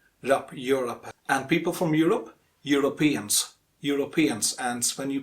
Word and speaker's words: Europeans: and people from europe europeans europeans and when you pronounce the europeans make sure that stress falls on the penultimate syllable penultimate means second last